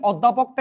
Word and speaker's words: অধ্যাপক: লাস্টেরটা দেখেন অধ্যাপক অধ্যাপক শব্দের অটা উচ্চারণটা কিরকম হবে সংবৃত নাকি বিবৃত অর্ধসংবৃত নাকি বিবৃত সংবৃত মানে কি অস্বাভাবিক অর্থাৎ বিকৃত উচ্চারণ কারণ আমরা জানি অধ্যাপকটা কি রকম উচ্চারণ হচ্ছে তোরা দেখ ভাই অধ্যাপক তাহলে দেখেন অটা আর অ নাই ও হয়ে গেছে তার মানে এটা সংত উচ্চারণ রাইট আনসার হচ্ছে ক